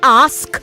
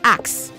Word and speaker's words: ask: Both of you by the way development say ask not axe. And axe is a farm tool. It's a tool used to chop wood. Okay? Used for chopping wood. So don't say axe, say ask. Ask.